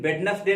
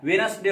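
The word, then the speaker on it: Wednesday: वेनस डे, याद रखना वेनस डे क्या लिखा हुआ है WDNESDY, ढेर पड़ जाते हैं वेडनेस डे, लेकिन वेडनेस डे नहीं होता है वेनस डे होता है।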